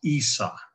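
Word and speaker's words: عيسى: or the mosque of isa that's the word jesus is pronounced in arabic and many things like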